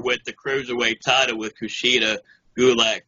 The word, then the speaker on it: Kushida: I'm gonna try not to butcher your name, but Kushida.